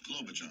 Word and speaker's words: Klobuchar: I can't even pronounce her last name. Can you help me on that, Earl? Klobuchar.